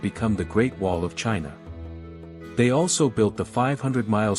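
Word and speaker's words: Qin: dynasty not only gave China its name chin pronounced chin but also left an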